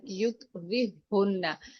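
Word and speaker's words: يكرههن: कायदा यही है कि जब जज़म वाला हर्फ और उसके वेरी नेक्स्ट जो नेक्स्ट लेटर है उसके ऊपर तशदीद हो तो जज़म वाला हर्फ नहीं पढ़ा जाता, हम उसको स्किप करेंगे, वो साइलेंट होगा, और नेक्स्ट वाला जो हा है तशदीद वाला हा उसके साथ हम रा को अटैच करेंगे।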